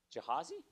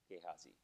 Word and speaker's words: Gehazi: to practice this uh this pronunciation jihazi gehazi how do you do